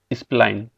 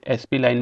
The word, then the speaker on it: spline: आप देख सकते हैं इस स्प्लाइन, कई लोग इसे एसपी लाइन भी कहते हैं, कोई स्प्लाइन भी कहता है। आप इसके हिसाब से आप इसे प्रोनाउंस कर सकते हैं।